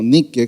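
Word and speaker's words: νίκη: de y nice nice en el griego es como nique tipo Nike así se escribe no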